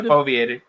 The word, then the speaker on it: foveated: And I think that the foveated rendering would be, I mean, if foveated, am I saying it correctly? Foveated? Yeah, foveated. Okay.